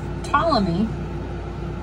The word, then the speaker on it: Ptolemy: by the name of ptolemy and he does have a p in the front of his name it is silent like pterodactyl so ptolemy he was in the 200s